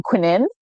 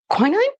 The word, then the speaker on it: quinine: Probably because of the fact that it was made from quinin. Uh quinine. Quinine. Yeah. Quinine. Quinine.